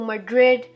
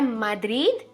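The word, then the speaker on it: Madrid: अब बहुत सारे लोग पढ़ते हैं इसको मैड्रिड, मैड्रिड। ये है माद्रिद, उसकी सही प्रोनाउंसिएशन है माद्रिद।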